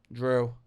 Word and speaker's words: Drew: Drew. How do you say it? Drew, like Andrew?